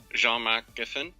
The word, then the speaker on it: Jean Marc: Deva yeah caposa uh how do you say your name I'm sorry that's all right it's French uh John mcin ah John mcin thank you uh anyway